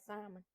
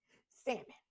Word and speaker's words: salmon: way did I say Simon at least I didn't well I'm still country because these are country conversations with d but at least I didn't pronounce the L salmon don't think I don't